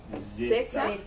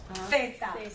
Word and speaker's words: zeta: And then the last letter, Zeta. zeta. Zeta. Zeta. Like a C sound. But in España, there's that sound, like in thick, See? our TH sound, theta.